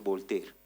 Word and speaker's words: Voltaire: Este personaje que aparece ahí es Voltaire se escribea, pero es Volter.